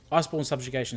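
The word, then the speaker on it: Iceborn Subjugation: So it's called Iceborne Subjugation. All right, that's how you say it. I promise. Iceborne Subjugation.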